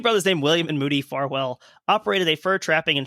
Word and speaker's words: Farwell: Like, and then also with the pronunciation, sometimes it's spelled without the E, so I believe the pronunciation is Farwell.